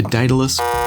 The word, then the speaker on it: Dedalus: Like the Invictus cable, the Dedalus cable, and apparently that is the correct pronunciation, the Dedalus cable is a more intimate sounding cable, much like the Invictus.